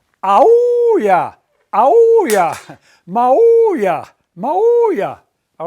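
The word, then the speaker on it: aúlla: Aulla, accent on that U.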